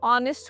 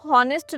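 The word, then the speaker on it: honest: Times pronunciation repeat करेंगे, उनको बताएंगे कि इसको हॉनेस्ट नहीं, इसको ऑनेस्ट प्रोनाउंस करना होता है।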